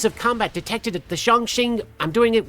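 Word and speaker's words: 重庆: Chongqing.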